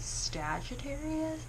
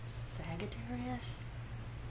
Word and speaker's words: Sagittarius: Today I'm going to be doing a Sagittarius look, which I mispronounced for years. I thought it was Sagittarius, but Sagittarius, I think. I don't know.